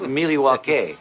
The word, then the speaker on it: Milwaukee: Actually, it's pronounced Milwaukee, which is Algonquin Talk about for pandering.